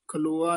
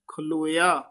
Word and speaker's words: खलोया: को ऊठ खलो आ खलो नहीं है खलोया बुरे काम का ऊठ